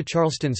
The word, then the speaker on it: Charleston: the city, to which a standard listener would hear Charleston with a silent R.